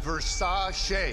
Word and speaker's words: Versace: Pronounced Versace.